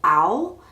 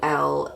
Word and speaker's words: awl: it's called a metal a metal owl which is awl is how it's spelled so I you can